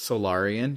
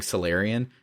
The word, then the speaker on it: Solarian: ramsis are probably so I know it's solarian because Solaris that's like only way you could pronounce that but I kept saying salarian because I play Mass Effect and so I Mass